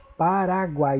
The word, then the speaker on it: Paraguai: Então, essas três últimas sílabas aqui, melhor, essas três últimas letras juntas, guai, que faz a sílaba guai, elas não se separam. O U, o A e o I, Paraguai. Então, nós dizemos que ela é, na verdade, um tritongo, uma palavra com três vogais juntas.